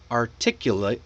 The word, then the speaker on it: articulate: Now this is a special word because the adjective is pronounced articulate.